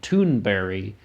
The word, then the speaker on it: Thunberg: differently like I noticed when Greta talks she pronounces her last name tun Barry and they um but